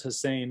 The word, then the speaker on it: Hasan: name is marouf hasan it's spelled like hassayan but he says hussein marufa saying who's known